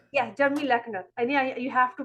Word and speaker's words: Leochner: It's Jeremy Leochner. Yeah, Jeremy Leochner. I mean, you have to pronounce it sometimes, so 3 or 4 times, so that you can, grasp that thing.